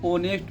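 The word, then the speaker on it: honest: देखो वैसे एच क्या है, कॉन्सोनेंट है, लेकिन एच साइलेंट है, यहाँ पर ओ की आवाज़ निकल रही, ऑनेस्ट मैन, तो ओ छोटा आ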